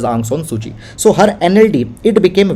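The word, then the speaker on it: Aung San Suu Kyi: aung san suchi so it is pronounced as ang son suji so her nld it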